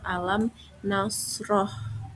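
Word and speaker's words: أَلَمْ نَشْرَحْ: Alasannya karena mim sukun bertemu dengan huruf nun. Jadi dibacanya jelas yaitu pada kalimat alam nasroh.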